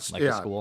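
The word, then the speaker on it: Skule: Is that the pronunciation school? It's not spelled school. It's pronounced school.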